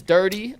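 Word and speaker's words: Durde: And and Earl says it's dirty. Like dirty pronounced.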